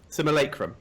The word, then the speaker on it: Simulacrum: Alright, so the second heroic is Lucid hang on, I struggle to pronounce this. Simulacrum. Simulacrum, that's it.